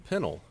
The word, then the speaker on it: Pennell: pronounce his last name a lot of people uh at least in England pronounce my last name Pennell uh we pronounce it Pinnell here apparently it was just